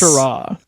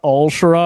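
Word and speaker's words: al-Sharaa: Is it Asharah? I think it's silence. Asharah. I think the L is silent in that dialect. That's not Al-Shara. I think it's Asharah.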